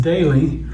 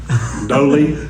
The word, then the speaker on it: Doelle: It's funny because my name is spelled O-E-L-L-E, pronounced Daly, but, and everybody mispronounces it. Doelle?